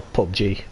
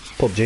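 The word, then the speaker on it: PUBG: I don't really play ap you BG I'll pop G as it's pronounced yes pop G is it we've got a pickup to me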